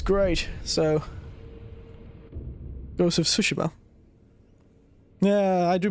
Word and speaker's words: Tsushima: a bit more normal it's not tsushima it's tsushima has a bit of a t sound at the beginning foreign God's good name